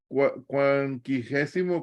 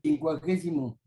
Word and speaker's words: quincuagésimo: Quinquagésimo, ¿cómo se dice? Quincuagésimo. ¿Cómo? Quincuagésimo.